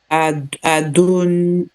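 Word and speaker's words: אדוני: Adoni. Enfin, et Yod. On a dit que le yod ne se prononce pas. Donc Adoni. Adoni. Parce qu'il n'y a rien en dessous.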